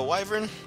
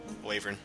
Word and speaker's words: wyvern: to be hey uh wyvern waver however you like to pronounce it I call it uh waver a waver attacked and